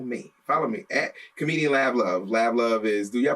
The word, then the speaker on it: Lav Luv: Because people mispronounce it all the time. Laugh Love, like ha ha ha. No.